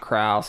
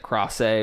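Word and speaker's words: Krause: T Nelson Dax Shepard Peter cross a which is not Krauss he pronounces that cross a which is crazy but as good as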